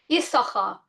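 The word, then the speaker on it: יששכר: Has anybody ever noticed that the name Yisachar is very strange? We should really pronounce his name Yisoscha. But actually his name is a conglomeration of the words Yesh and Sachar. That's why it's got two shins.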